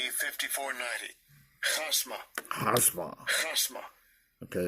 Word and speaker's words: chasma: And this next word, 5490, it looks like chasma.